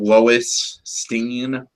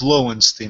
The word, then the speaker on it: Lowenstein: So I take it Lois Steen. Bernstein. No, it's Lowenstein, not Lois. Oh, Lowen. Okay. Yeah, like Lowenbrow.